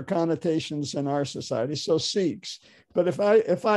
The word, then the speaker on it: Sikhs: say six um and apparently in india it's pronounced six but uh uh that has other connotations in our society so sikhs but if i if